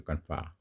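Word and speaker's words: confrère: কনফ্রাটা French শব্দ, এখানে কনফ্রা আমরা এভাবে উচ্চারণ করি, কনফ্রা।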